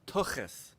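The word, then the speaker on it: tuchus: So you got to get this "ch" in your throat. When you say "Tookus," it's like Harrison Ford saying it in The Frisco Kid. It's "Tookus," "Tookus." That's how you say it.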